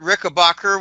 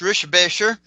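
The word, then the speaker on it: Richebächer: Um, I've actually met Kurt Rickabbacher, which is actually pronounced Rishbasher.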